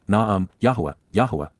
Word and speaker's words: Yahowah: 20 And she ignored and then forgot me, Eni Shakach, prophetically announces, Yahowah, the proper pronunciation of YYV2C1, our Eloah, God as directed in his Towrah, teaching regarding his Hayah, existence and our Shalom WM, restoration.